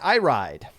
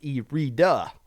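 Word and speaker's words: Iride: threes on splat zones erita not i ride because i listened to the more a tavern podcast when that steam was on and is pronounced erida even though it looks like it's i ride i-r-i-d-e got a 2-1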